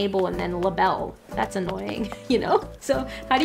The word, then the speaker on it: Label: The Labelle link is clearly intended. Doesn't change the pronunciation of the name. Well, she has a different, she has a clothing line that's spelt differently. That's spelt like that. Which I think would be pronounced differently to her name. But I think then her name would still be Label.